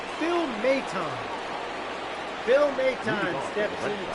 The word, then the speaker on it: Maton: So I needed to listen to hear how to pronounce this fellow's name. Phil Maton.